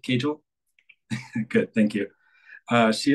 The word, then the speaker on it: Cagle: Nicollet Kel I'm sorry am I am I pronouncing your your last name correctly Kel good thank you uh she is a faculty